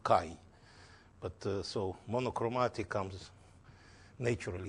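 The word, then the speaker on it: χ: This is Greek letter he, which in America is pronounced chi.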